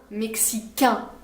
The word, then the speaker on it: mexicain: plus est plus ouvert mexicaine pour les filles mexicain fait plus nasale mexicain pour les garçons voilà marocain pour les